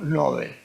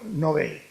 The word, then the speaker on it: Nobel: siglo de que le fue otorgado el premio Nobel este yo me siento muy bien acompañado por